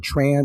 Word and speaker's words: Tran: Thao, is it like a Tron or a Tran? It's Tran.